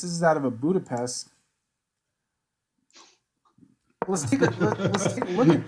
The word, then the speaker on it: Budapest: You gotta say it like that. Budapest. Budapest.